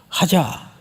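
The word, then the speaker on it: חזה: 봤다는 뜻이에요 하자 그런데 원래 히브리 정통 발음대로 하려면 그 앞에다가 들릴 듯 말 듯 가자 정통 발음이에요 과자 근데이 큰 자를 이렇게 세게 안 합니다 아주 연하게 과자 그 한 듯 안 한 듯 그게 보다라는 뜻이에요 보다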